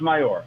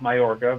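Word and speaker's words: Mallorca: also remember it's my it is pronounced mayor okay she's french francais oh right um it's not my orca which is in spain anyways i think cute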